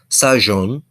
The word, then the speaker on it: sajon: Then we have sajon, which is to eat, and that ZH is kind of pronounced like judge, like the J in judge.